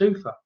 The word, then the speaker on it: Ufa: And I said to, how do you pronounce your name? And he said, it's Ufa.